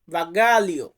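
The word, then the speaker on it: bagaglio: আমরা যেটাকে লাগেজ বলি এটাকে ইতালিতে বলা হয় বাগালিও বাগালিও অনেকে বাগালি উচ্চারণ করেন বাট এটাকে আমরা সঠিক ভাবে উচ্চারণ করতে পারি বাগালিও এর পরবর্তী শব্দটি আছে ওজন ওজন ওয়েট এটাকে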